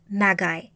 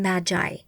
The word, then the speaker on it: Magi: the same but pronounced Magi rather than Magi this had been based on the hard G of the Greek word go meaning sorcerer or